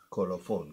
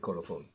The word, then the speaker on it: Colophon: Como suena, Colophon, con F, Colophon.